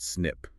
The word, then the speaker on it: SNP: And the workhorse for finding these ancient shared mistakes is something called a SNP, pronounced SNP.